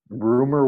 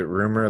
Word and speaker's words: Rumer: Is it rumor like the word rumor? Like Rumer.